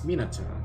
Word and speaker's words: Minato: It's Minato. You're pronouncing it Minato? Minato? No. In most other languages, the A sound is an ah sound.